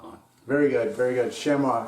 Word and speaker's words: chamois: very good very good shema so some people say shami chamois in german it's goms i speak german so